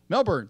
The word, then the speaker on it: Melbourne: August 13th 2016 in Mel mer merb melbour Melbourne thank you Melbourne I'm mispronouncing words left and right here melburn International